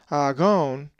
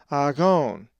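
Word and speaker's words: ἀγών: If you said agon, you are correct, as the accent is over the omega, agon.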